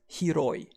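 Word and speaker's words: 広い: We pronounce wide or spacious as hiroi. And a good way to remember hiroi for wide or spacious is the hero has wide shoulders.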